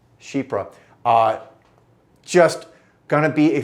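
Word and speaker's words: Chypre: for those who didn't know that's how it's pronounced is shipra shipra uh just gonna be a fragrance that exudes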